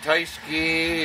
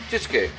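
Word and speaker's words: Tyskie: It's not Taiski or whatever the fuck you guys want to call it. Chisuke. That's how it's pronounced in Polish.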